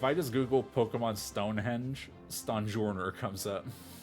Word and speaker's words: Stonjourner: for the British um I'm absolutely pronouncing his name incorrectly I think it's supposed to be a pun on Sojourner which is another word that I read and never pronounce sorry everyone so I